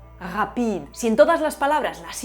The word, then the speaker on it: rapide: El francés sí lo tiene. Tiene un problema con todas las palabras que no sean agudas, así que la adapta. Rapide.